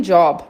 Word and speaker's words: Job: M and job, meu emprego. Aqui a gente fala job mesmo, com a pronúncia do inglês, porque essa palavra vem do inglês, né?